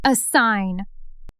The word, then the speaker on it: assign: It's pronounced a sign.